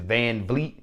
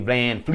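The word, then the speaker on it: VanVleet: his name excuse me I guess it's Van Vleet instead of Van Fleet but yeah that guy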